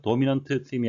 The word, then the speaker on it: dominant theme: 한 단어나 두 단어에 걸쳐 세 개의 자음이 연속될 경우 가운데 자음은 발음을 약하게 하거나 생략이 된다. 그래서 dominant theme이 아니고 dominant theme, 마치 T가 없는 것처럼 발음이 되었습니다.